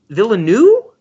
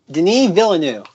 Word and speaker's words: Denis Villeneuve: guy's pronoun Denny Villa villa new Denis Villeneuve the Neves Villa new there's like 12 extra letters than what we're pronouncing which is why I'm